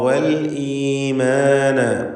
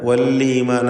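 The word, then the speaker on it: والإيمان: അദ്ദാറ വൽഈമാന. വല്ലീമാന എന്ന് തെറ്റായി പലരും പറയാറുണ്ട്, സൂക്ഷിക്കുക. വല്ലീമാന പറയരുത്. ഹംസ വ്യക്തമാക്കി മുറിച്ച് ശിദ്ദത്തോടുകൂടി ഉച്ചരിക്കേണ്ട ഹർഫാണ്.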